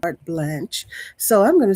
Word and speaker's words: carte blanche: doesn't give them carte blanche to your life. And sometimes here we say blanche, but according to my source, Miss Alexa, she said the correct pronunciation is a French word, carte blanche.